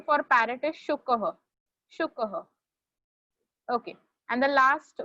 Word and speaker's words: शुकः: Rushil, the pronunciation for parrot is shukah.